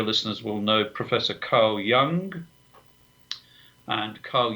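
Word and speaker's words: Jung: Um the many of your listeners will know professor Carl Young and Carl Young spelled J U N G not not young in in the other pronunciation of the word.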